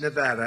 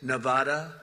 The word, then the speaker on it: Nevada: heard of it and don't ever mispronounce the name you're not allowed to do that you you mispronounce the name you got a problem you ever see somebody when they say it's Nevada Nevada no they're they're in